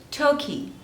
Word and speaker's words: Turkey: Next is Turkey. Turkey. There are 2 syllables and the stress is on the first one.